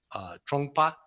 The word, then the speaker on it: Trungpa: sex and Monday money and I always struggle pronouncing his name but it is trungpa Chum get trungpa so some reason my Kindle